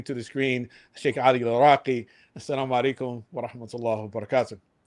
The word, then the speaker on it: Laraki: Yeah, my name is pronounced Laraki, but really it's Al. Yes, yeah, I know. This is how Moroccans pronounce it.